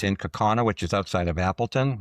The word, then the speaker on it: Kaukauna: I didn't realize until this week I was mispronouncing Kaukauna. It's in Kaukauna, which is outside of Appleton, Wisconsin.